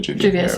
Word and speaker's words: Juvia's: Juvia's, yeah.